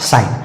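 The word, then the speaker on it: sign: एन आया है और इसमें भी जी का उच्चारण नहीं होगा और सीधा-सीधा इसका सही उच्चारण हो जाएगा साइन और साइन का मतलब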